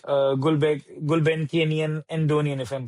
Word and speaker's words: Andonian: in agency or working with firms like Gulbenkian Andonian, if I'm pronouncing it right?